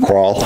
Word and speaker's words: Krahl: How do you say Krahl? How would you say that last name? Crawl. Crawl. Well, I don't want to 1 minute.